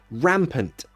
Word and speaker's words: rampant: you think rampant means pronunciation rampant that is a schwa rampant rampant say it